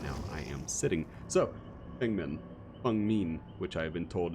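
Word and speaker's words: Feng Min: So, Fengmin, which I have been told is the correct pronunciation of her name.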